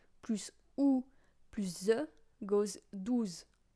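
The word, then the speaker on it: douze: Then you go with 12, which is 12. So it's also ending with a ZE, and so you have the sound, you know.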